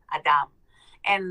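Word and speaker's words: אדמה: um messages come first in Hebrew human is is um pronounced Adam like Adam Adam and land is Adama Adam and Adama and what we say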